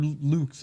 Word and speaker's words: Lux: I was gonna do it late tonight, but I'm gonna be watching the Lux card, or Luke's. It's pronounced Luke's.